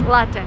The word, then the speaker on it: latte: And don't say latte. This is like the worst thing I've ever heard. It's latte. Latte is Italian word. So, if you drink coffee, it's latte, not latte.